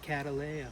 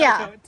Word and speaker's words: Cattleya: No, you're getting an ea in there. Just say a, not ea.